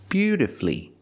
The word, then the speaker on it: beautifully: played the guitar beautifully I cannot say beautifully beautifully four syllables is not correct we pronounce it with three syllables beautifully beautifully put the stress on your first and third syllable beautifully flee flee is the final syllable flee beautifully and of course beautifully